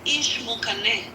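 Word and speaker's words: Ixmucané: But the way you pronounce them, so the first one is Ixinche. Ixinche. The second one is Ishmukane.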